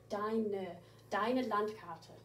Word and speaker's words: deine Landkarte: And make sure you do pronounce that E on the end. We don't ignore E's on the end in German, like we do in English. Deine Landkarte.